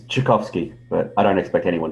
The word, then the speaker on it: Tchaikovsky: It's Tchaikovsky, but I don't expect anyone to know how to say it.